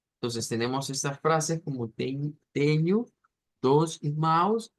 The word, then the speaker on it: tenho: Nuevamente, NH se va a pronunciar como ñ realmente. Teño.